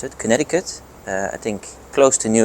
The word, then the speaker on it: Connecticut: Connecticut, I think the US pronounce it, Connecticut.